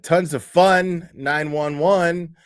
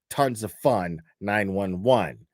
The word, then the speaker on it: Tons of Fun 911: Uh, tons of fun 911. See, I if if you say 911, you say it wrong because it's supposed to rhyme. Tons of fun 911.